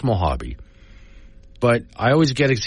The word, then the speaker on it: Mojave: say the desert tortoises uh King of the mojab desert I know it's Mojave but I always get EX see I'm reading